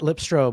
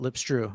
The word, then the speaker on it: Lipstro: Not Lipstro, but Lipstrew.